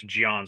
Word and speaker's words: Jean: better well-rounded give me Jean Silva Knuckles what do you think first of all say his name right it's Gian Silva um and secondly you